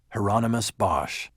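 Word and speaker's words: Hieronymus Bosch: Heronomous Bosch rhymes with anonymous, he told me.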